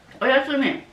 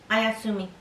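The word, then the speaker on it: おやすみ: Oyasumi. Oyasumi は good night. Good night. Ayasumi. Ayasumi? Ayasumi. Oyasumi. Oyasumi? Oyasumi. Oyasumi. Oh, Yasumi. No, oyasumi.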